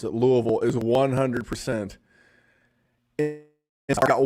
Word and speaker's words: Louisville: tell you that louisville and that's how you pronounce it louisville is 100 and i got one more guy